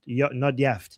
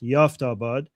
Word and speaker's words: Yaftabad: Not Yaft. Yaftabad.